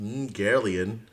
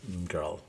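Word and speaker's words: Ymgarlian: It says the Umgarlian, which is actually pronounced Umgarlian species. So that's what they're referred to. And so I know how they pronounce things in High Gothic, and I can tell you that is how it's pronounced. Do not sully yourself by trying to pronounce it as Umgarl.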